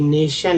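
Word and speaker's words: nation: ध्यान दिया है कि टी से शुरू होकर टी आई से शुरू होकर श उच्चारण होता है किसी ने ध्यान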